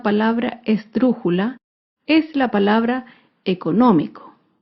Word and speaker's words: económico: esdrújula es la palabra económico económico se acentúa en la antepenúltima sílaba económico y como se